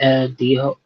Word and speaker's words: dijo: the J in Spanish Okay. has an H sound, right?